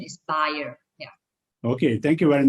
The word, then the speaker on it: Bayer: company right so uh the correct way of pronouncing uh bayer is actually buyer yeah it's a german player it's a german company so uh the correct one is is buyer yeah i mean there's